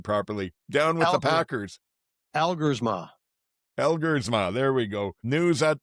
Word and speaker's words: Elgersma: I can never pronounce it properly. Down with the Packers. Elgersma.